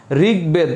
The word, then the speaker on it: ঋগ্বেদ: এবং দয়ের সাথে থাকলে, গ এবং দয়ের সাথে থাকলে যদি সন্ধিবদ্ধ হয় তাহলে উভয়ের উচ্চারণ হবে, অর্থাৎ গ প্লাস ব